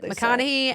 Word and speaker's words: McConaghy: And I watched a clip of her on CBS Mornings, and they said McConaghy, and that's what I'm gonna go with as well.